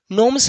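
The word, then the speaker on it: gnomes: रात में फेरी एंड नो्स इसमें जी साइलेंट रहता है बाबू ठीक ना फेरी मतलब परी नोम्स मतलब होता है बौना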